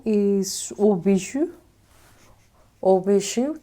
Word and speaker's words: Hauts Bijoux: Hauts Bijoux. This is the pronunciation, that's what they said.